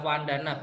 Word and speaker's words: vandana: banyak yang salah juga kalo di bahasa pali V dibaca wae ya vc dibaca wae jadi nanti kalau ada tulisan nanti saya kasih contoh ya Wanda nanti Bacanya adalah vandana bukan vandana ya nanti ini ingat v